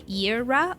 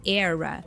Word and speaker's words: era: so convenient right so the word era it has two types like two ways of pronunciation actually you can either say irra or era and when you rhyme